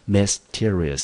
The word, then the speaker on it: mysterious: 做一个 s， mysterious。好，中音节呢落在第二个音节 mysterious。Mysterious，那因为